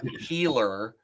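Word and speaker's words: Heeler: Because their last name is pronounced Healer.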